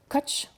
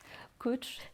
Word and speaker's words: Koç: oui crocus oui et ton nom de famille se prononceit coach oui coach ça veut dire bélier l'animal